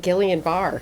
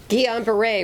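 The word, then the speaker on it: Guillain-Barré: about cases of and i will say this wrong guillain-barre did i say it right yeah result oh good i used to call it gillian barr so i'm doing better guillain-barre resulting from the j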